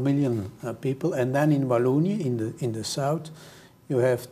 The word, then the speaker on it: Wallonia: Who we got Flanders, we got Wallonia. Is that the correct pronunciation? That's correct, yeah.